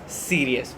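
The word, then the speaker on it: cereus: है सीरियस ठीक है इसको और भी बहुत तरीके से प्रोनाउंस करते हैं इम्यूनोलॉजी के माइक्रोबायोलॉजी के अलग-अलग साइंटिस्ट हैं अलग-अलग तरीके से प्रोनाउंस करते हैं बट we will pronounce pronounce it एज सीरियस okay so let's get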